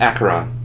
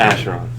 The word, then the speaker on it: Acheron: Kabu, and Acheron. I found out yesterday that was the correct pronunciation, not Acheron.